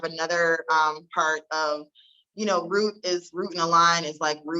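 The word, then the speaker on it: Route and Align: So my company is Root and Align, and it is spelled like a root, like a path, ROUTE.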